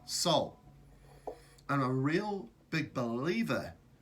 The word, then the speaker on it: sol: sun is sol but pronounced like s-o-u-l Sol and a real big